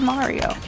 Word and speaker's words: Mario: Everyone else says Mario. That's because you pronounce it with a hard A.